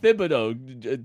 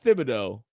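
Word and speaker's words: Thibodeaux: Craig calls it Thibodeau. Kayvon Thibodeau. It's Thibodeau.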